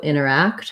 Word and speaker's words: interact: a um and also interact has last syllable stress so quick on the enter or inner and longer on the act interact um great thank